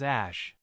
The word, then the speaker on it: Æ: it is he explained the AE is pronounced as Ash my contribution is a